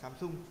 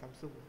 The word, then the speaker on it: Samsung: đang làm việc ở Samsung.